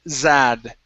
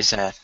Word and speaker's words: sad: uh this one here you had said zad pronouncing a z sound so she was very sad try that she was she was very sad uhhuh very good uh